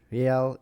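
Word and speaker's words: real: is the iso code for the Brazilian Hal Hal is pronounced Hal The One Hal node reportedly can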